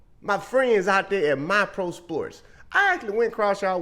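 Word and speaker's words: MiPro Sports: Oh, hold on, make sure I said it right. My Pro Sports. Spelled M-I-P-R-O Sports.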